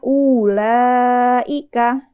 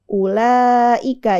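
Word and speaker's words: أولئك: tapi kita bacanya pendek kata ulaika nah di tulisannya itu ada Mad setelah Hamzah yang pertama Ya harusnya Harusnya dibacanya ulaika tapi yang benar bacaannya pendek aja ulaika jadi Hamzah yang pertama tidak dibaca panjang ada lagi kata Ulu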